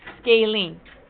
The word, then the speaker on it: scalene: be looking at that size okay this is pronounced scalene how many raise your hand if you ever